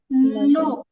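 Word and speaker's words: نون: নুন নুন আমরা যখন বাংলাতে ন উচ্চারণ করি তখন সাধারণত আমাদের এইভাবে জিহবার আকাটা তালুতে লাগে না বরং জিহিবার আকাটা দাঁতের গোড়ায় লাগে কিন্তু যখন আমরা আরবি নন বলব তখন নুন উচ্চারণ করার সময় একদম স্পষ্টভাবে জিহবার আগাটা উপরে তাতে লাগে এবং উচ্চারণ মধ্যে আলাদা একটা ভাব তৈরি হয় নুন নুন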